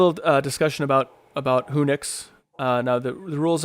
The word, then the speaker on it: Whonix: just be very specific and it's so it's pronounced who nix it's a the combination of two words so